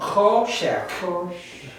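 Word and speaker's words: חֹשֶׁךְ: Cho, there's an O sound. Choshek. The choshek.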